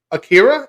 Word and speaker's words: Akira: The 1988 animated film from Japan, Akira.